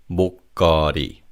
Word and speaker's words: 목걸이: The lir in the second syllable links with the third syllable as it begins with an iung. So it's 목걸이.